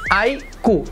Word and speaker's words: iQOO: ना, उसका सब ब्रांड IQOO, फाइनली हम उसको प्रोनाउंस कर सकते हैं IQOO।